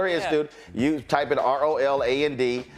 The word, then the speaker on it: Roland: All right, so if y'all go to her institute, you type in ROLAND. Don't misspell it. It ain't Ronald. It's ROLAND.